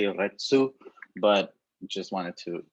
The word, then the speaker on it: retsu: the seal is called retsu now the the letter u at the end of retsu it's almost silent so you could pronounce